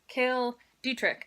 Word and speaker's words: Cale Dietrich: the love interest by Cael Dietrich apparently it is how you say his name no no - Kristin